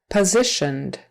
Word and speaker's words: positioned: in um conversation company positioned positioned syllable stress on the second syllable positioned that s in